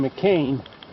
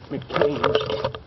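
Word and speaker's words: MacKaye: This trail was established, the idea, in 1929, and by Benton McCain, spelled M-C-K-A-Y-E, but it's pronounced, I believe, McCain.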